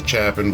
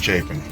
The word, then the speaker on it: Chapin: carolina that's c-h-a-p-i-n a lot of people say chapman but it's pronounced chafing so we're heading out to drear island it's